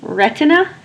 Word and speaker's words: retina: Please say it with me, retina. And let's syllabicate it. Ret-e-na. Your first syllable is ret, r, e, t.